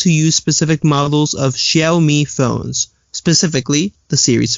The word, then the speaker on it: Xiaomi: Xiaomi, thank you. Okay. Just reading that more or less phonetically there.